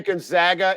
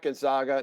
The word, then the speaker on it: Gonzaga: And please say Gonzaga. It's not Gonzaga.